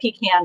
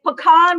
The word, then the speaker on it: pecan: my goodness yeah okay it's pecan when you pick them and pecan no pecan when you pick them pecan when you sell them so oh my goodness